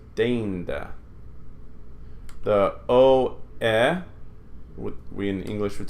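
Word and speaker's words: deinde: So what we say in English is ei, but they would say e, is rain. So deinda. This word is deinda.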